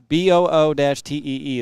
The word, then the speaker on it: Boutte: And yes, Nick, it is Boutte. And I was going to show you if I click the right button. Boo-Tee is the pronunciation.